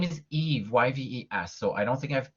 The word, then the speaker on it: Yves: my name is eve yves so i don't think i've pronounced but it's silent s and it sounds like eevee so it's french i'm from montreal and